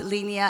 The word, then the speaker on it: Linea: know consensus recently launched a tkevm it is pronounced as linear so a lot of people pronounce it as